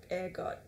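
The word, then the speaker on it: ergot: you're probably more familiar with the effects of air gut than you are with egg on itself and yes it is pronounced air God I did a lot of research after mispronouncing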